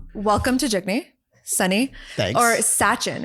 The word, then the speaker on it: Sachin: Sunny or Sachin, right? Yeah, I like Sunny. You like Sunny? Yeah. Okay. Okay. But is it pronounced Sachin or Sachin? Yeah. Suchin. Suchin. Yeah. Okay. Suchin.